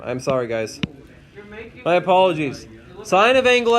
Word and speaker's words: sine: This is how you pronounce this. You pronounce it as sine, just like you're signing something, or you see a sign on the street.